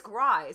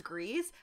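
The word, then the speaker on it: Gries: It's Grice. Is it? And you know what? I used to think it was Grease, but I had to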